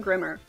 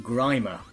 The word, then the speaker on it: Grimer: Not his regular, not Grimmer, but No. somebody else from STC. Actually, it's pronounced Grimer.